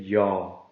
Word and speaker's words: jag: But one thing, in G is always silent in jag. So you say jag.